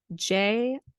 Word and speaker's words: Jarritos: It's a Jarritos, Jarritos. Oh, Jarritos. No. Do you pronounce the J or is it silent? It's Spanish, so it's a Jarrito. It's more of an H sound.